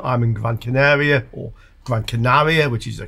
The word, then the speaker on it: Gran Canaria: I'm in Gran Canaria, or Gran Canaria, which is the correct pronunciation.